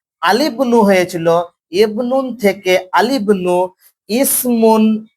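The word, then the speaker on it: الابن: এখানে আমরা পড়েছিলাম ইবনুন শব্দটা উচ্চারণ আমরা আলিফ লাম রাখতে গেলে আল ইবনু বলি, এটা ভুল। আলিবনু হয়েছিল।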